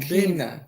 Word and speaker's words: Keena: Hey, Kenya, what's going on? Did I say her name right? That's Keena.